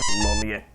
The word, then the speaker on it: Lollet: Lollet. I keep calling her Loretta. Easier to pronounce.